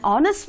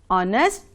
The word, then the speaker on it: honest: with silent hedge for example an r an honest man an honorable person here h is silent and all these words for example are honest and honorable we don't say honor honest okay